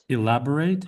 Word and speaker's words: elaborate: Elaborate elaborate uh hoax. Hoax. Yeah. The this the last part of the word elaborate, you want to make you want to make a strong a sound.